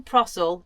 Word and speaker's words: Prasel: put at the end my name is prel it rhymes with grim fossil a fact that I